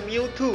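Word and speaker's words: Mewtwo: 而另外，超梦英文发音都是 Miu Two，直接将它复制的对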